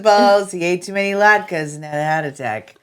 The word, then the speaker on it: latke: No, it's just it's a potato latke. It's a yeah Latke. I say it right. Latke.